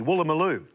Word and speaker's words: Woolloomooloo: It's actually how you spell that inner suburb of Sydney, Woolloomooloo, which is wool, loo, moo, loo.